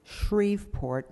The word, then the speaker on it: Shreveport: all councilmember Bob Gomez SH er BEP RT is pronounced Shreveport not Shreveport Louisiana okay so I'm gonna